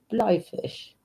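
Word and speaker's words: Bleifisch: Blyfish. Am I saying it wrong? B-L-E-I. You pronounce the E-I. I. It's an egg. An I. Blyfish.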